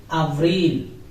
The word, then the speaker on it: Abril: Then Abril. Abril. A-B-R-I-L. Abril. This letter name is E. In English it is I, but in Spanish it is E.